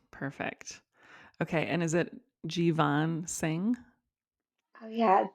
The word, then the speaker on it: Jeevan: Oh yeah, Jeevan Singh. Thanks for Jeevan asking. Singh. Okay, I'm glad I asked. Thank you. Hmm. Yep. I have a friend named Jovan, and I was thinking, yeah, it's pronounced differently.